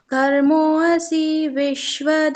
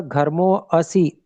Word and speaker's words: घर्मोऽसि: पृथिव्यसि मातरिश्वनो घर्मोऽसि हाँ रुके, विश्वधासि। जैसे यहाँ पर घर्मो असी अ उच्चारण सुनाई दिया, तो अ नहीं आना चाहिए, क्योंकि यहाँ पर है ही नहीं।